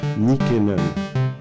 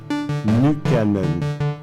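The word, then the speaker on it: Nykänen: l'époque et pour longtemps je le prononçit le lisait à la française nickenon bien des années plus tard j'ai été à la fois surpris et décontenancé en apprenant le finois de découvrir sa véritable prononciation nukanen c'était comme si toutes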